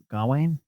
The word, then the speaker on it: Gawain: They might not have put all that stuff in there from Hugh Dancy doing Galahad or Joel Edgerton doing Gawain. Did I say it right? Gawain, yeah.